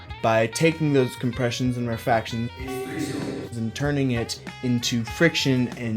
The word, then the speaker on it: rarefactions: These are called the rarefactions. It's 3 syllables, despite what Titus from the previous video might think.